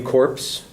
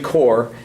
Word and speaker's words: Corps: accidentally in a speech used the term the Marine Corps, and that's completely wrong. A Marine Corps is a dead Marine. It's the Marine Corps, and it's just a pronunciation mistake.